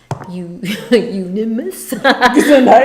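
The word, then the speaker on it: Euonymus: I had to look up how do you pronounce it's ununimus. You unimus.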